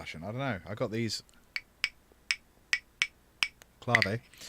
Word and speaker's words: clav: nice CLA away clav or clave if you want to say it wrong for fun um does that work